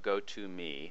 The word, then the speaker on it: Go2.me: First, I'll visit go to the Gotome site which is spelled go2.me.